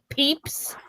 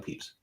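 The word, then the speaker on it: Pepys: Well, and with a name like Peeps spelled like that, you just What?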